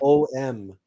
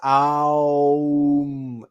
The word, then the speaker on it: Aum: It's not Om. Listen carefully to how you say Om. It's Aum. A-O-U-M. The correct pronunciation, the correct practice of Om is Aum.